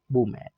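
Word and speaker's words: women: ऑफ the most courageous वुमेन। वैसे देखा जाए तो शुद्ध वुमेन का जो प्रोनाउंसिएशन होता है वूमा होता है साथियों, ठीक है, ये मूवी का भी नाम था।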